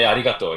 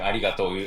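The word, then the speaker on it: ありがとう: arigato, it's hard to say every time, you know, like so people just say arigato, you know, like it's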